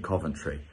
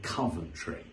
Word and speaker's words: Coventry: sale now for my first ever show in Coventry I cannot wait to see you all there